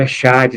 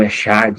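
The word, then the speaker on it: אֶחָד: O Echad, aí, se a gente fosse ler dessa maneira, significa, mas a pronúncia está aqui Errad, tá?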